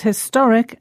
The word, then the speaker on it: historic: We pronounce historic and historical with the stress on the same syllable in both words, the to. And it's the same with classic and classical. In both words, the stress is on the same syllable, this time cla.